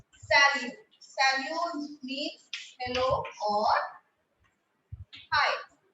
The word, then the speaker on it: salut: That is salut. S-A-L-U-T. Now, T again is silent. Salute.